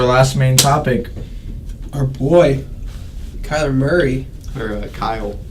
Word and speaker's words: Kyler: Now will you say it right for us? Kyle Murray. That's not. Kai. Say Kai. Kai. Now say Lur. Kyler. There you go.